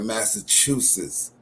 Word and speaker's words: Massachusett: uh Israelites and a Massachusetts Native American coming together. Mhm. And the way that the Massachusetts Native American, he's not a guy Algonquin, but his tribe is uh Massachusett. That's how they pronounce it.